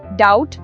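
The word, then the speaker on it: doubt: Five डाउट B silent है।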